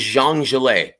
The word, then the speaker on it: Zhang: Technically, his name is Zhang. That does not rhyme with the Big Bang, but nonetheless, and earlier today at the press conference, it was hilarious.